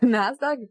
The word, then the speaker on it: NASDAQ: NASDAQ rhymes with backpack.